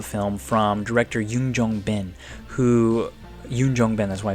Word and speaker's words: Yoon Jong-bin: So Beastie Boys really is a very intriguing early drama film from director Yoon Jong-bin, Yoon Jong-bin, that's why I said it right, who would